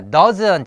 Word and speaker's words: does: 자 그다음에 doesn't 자 does 자 요것은 아와 어의 중간 정도 발음이라 그랬어 그래서 a 어 does doesn't 그 요것은 스와 즈의 중간 발음 그래서 does 하면은 개예요